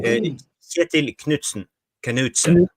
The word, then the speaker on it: Kjetil Knutsen: Kjetil Knutsen.